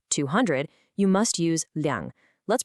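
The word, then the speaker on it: liǎng: But if you're talking about a specific quantity, like 200, you must use liang. Let's pronounce both of them slowly together.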